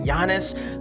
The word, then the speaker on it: Giannis: that's right I know how to say it yiannis on tokunbo I figure we do one player